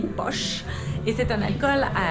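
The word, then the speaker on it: pox: il s'agit du poche ça s'écrit paix au x mais ça se dit bosch et c'est un alcool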